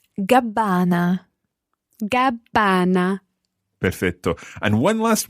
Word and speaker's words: Gabbana: And notice there, the Gabbana has got a double B but a single N. Listen to the pronunciation of Gabbana again. Gabbana.